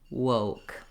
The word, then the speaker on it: woke: I'm doing the ooh, so thinking of starting in oo, opening to O, and then closing back and relaxing. Whoa, woke.